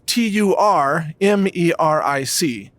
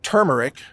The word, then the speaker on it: turmeric: And, if you're searching for turmeric, by the way, it's TURMERIC. Or some people say turmeric or turmeric, whatever. Either way is okay.